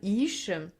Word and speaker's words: Hixe: Donc c'est là qu'est né un personnage qui s'appelait Madame Ish, mais qui s'écrit Hixe. Madame X, quoi.